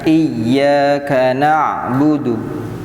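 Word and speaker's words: إِيَّاكَ نَعْبُدُ: Iyyaka ainnya agak ditekan ya. Iyyaka na'budu.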